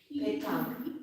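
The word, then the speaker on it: pétanque: It's Petanque. Don't forget the accent on the E. Petanque. Petanque. Just like it sounds, Colleen. Just like it sounds. Well, I was close. Accent on the first E.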